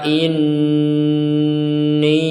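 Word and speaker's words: إِنِّي: Qala inni a'lamu ma la ta'lamun. Di sini ada nun bertasdid, kita bacanya dengung. Inni, kemudian ada harokat bendera, baca panjang.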